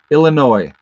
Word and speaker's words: Illinois: hampshire uh let's see illinois i know the s is silent sorry illinois california let's go buffalo